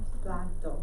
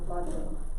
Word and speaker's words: plato: El plato. Remember the A, it's just like plate. But the A in Spanish is a always. So el plato. Remember say el plato? El plato.